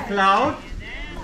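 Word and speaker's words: Claude: welcome my name is cloud cloud a little bit like cloud c-l-a-u-d-e but uh if your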